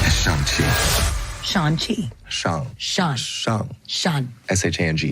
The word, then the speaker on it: Shang-Chi: Shang-Chi, Let's pronounce yeah.